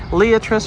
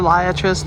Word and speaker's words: Liatris: Leatris or Liatris, depending on how you like to pronounce it.